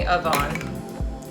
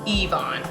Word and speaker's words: Yvonne: um they call me avon or yvonne or wyvon but it's evon but it's not like that i'm just stressing that the pronunciation of the first syllable is an e sound it's actually just yvonne